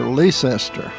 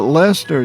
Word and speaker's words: Lester: the new Lester Highway some of us especially when I was growing up called Lester leester a lot newcomers actually mispronounce it that way too or or they call it Lester or something but Lester is the correct pronunciation and deres from uh Lester in England and has the old elizabethian English pronunciation uh up here in